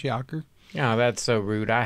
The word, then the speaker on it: Jaker: saying um call me just because they don't know no better because it's kind of spelled that way but it's pronounced Joker yeah that's so rude